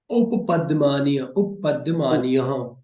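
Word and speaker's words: उपध्मानीय: Upadmaniya, Mhm. Upadmaniya and Jiva Mulya. They are generally used in pronunciation, generally helpful in pronunciation.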